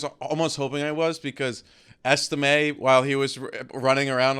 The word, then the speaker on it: Estime: Wait, did I say his name wrong? No, you said it right. I was almost hoping I was because Estime, while he was running around on Saturday, I